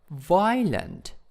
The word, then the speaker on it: violent: confusing next one is violent violent in the first syllables and then shocking shocking